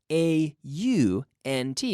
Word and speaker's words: aunt: which can be aunt or aunt, A-U-N-T, but the pronunciation can be the same. There are two possible pronunciations. Some people say aunt and some people say aunt.